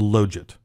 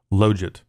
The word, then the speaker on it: logit: Now, I will briefly say something about the pronunciation of that word, Logit. I've heard other people say Logit, and really, I don't care. But I think the proper way is to say Logit, but I'll probably slip and say Logit. So just know that Logit is technically the correct way to say it.